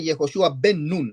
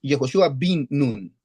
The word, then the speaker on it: Jehoshua bin Nun: Los sabios miran que para decir hijo no es vin, sino es ben. Pero aquí no se dice Jehoshua ben nun, sino es Jehoshua bin nun.